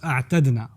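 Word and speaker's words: أعتدنا: It's actually when you have idgham, أَعْدَدْنَا, it's more commonly pronounced أَعْتَدْنَا. It's just easier to pronounce أَعْتَدْنَا as opposed to saying أعددنا.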